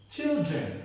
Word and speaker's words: children: Children remains children with your first syllable child stressed.